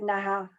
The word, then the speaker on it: naha: a reason uh and she naha is how we say her name and um she's called